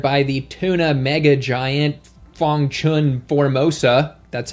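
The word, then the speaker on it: Fong Chun Formosa: 2020 was acquired by the tuna mega giant Fangchun Formosa, that's how you say it, which was already supplying the vast majority of their tuna in 2019 before they were acquired.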